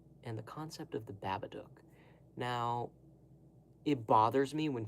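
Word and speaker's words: Babadook: Because it's supposed to rhyme with the word look. Do you say Luke? Oh, Luke over there. Absolutely not. You say look. So, say Babaduk.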